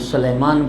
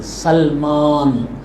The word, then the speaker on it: سلمان: اللہ کے، سلمان۔ اچھا بہت سارے لوگ اس کا تلفظ بھی غلط کرتے ہیں، کوئی سلمان پڑھتا ہے، کوئی سلیمان پڑھتا ہے، غلط ہے، سلمان، السلمان منا۔ اچھا سلمان جو تھے،